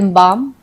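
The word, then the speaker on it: balm: silent है जैसे कि जी यू ए आर्ड guard B ए एल बाम पी ए एल एम पाम इन सब में एल जो है वो साइलेंट है गार्ड में यू साइलेंट है एल बाम में हम एल बालम नहीं पढ़ते हम हम बाम बोलते हैं इसको हम पालम नहीं पाम पढ़ते हैं तो इन वर्ड्स में एल साइलेंट है मतलब एल है लेकिन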